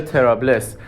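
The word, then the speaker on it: طرابلس: اومده توی انگلیسی شده تریپولی و توی عربی چون پ نداشتن اول شده تریبولیس و بعد در مرور زمان شده ترابلس ولی حتی هنوزم بعضی جاها می‌بینین که نوشتن تریبولیس به خاطر همین توی تلفظ صحیح اسم شهر یکم توی سفر گیج شده بودم.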